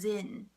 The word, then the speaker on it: Zen: It's the same word as Zen, Z-E-N. A lot of people are probably familiar with Zen. Zen is the Japanese way to say Chan.